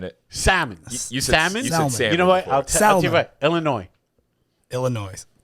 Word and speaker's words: Illinois: saying it salmon salmon Illinois Illinois the S doesn't know why yeah but why put